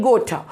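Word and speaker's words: Goethe: इनका जर्मन में जो प्रोनाउंसिएशन होता है that is different, but English में गोठा।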